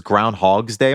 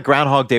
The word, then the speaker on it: Groundhog Day: February 2nd Groundhog Day which I've said I pronounced this Groundhogs Day my whole life it was literally today when I realized that it was singular so thank you for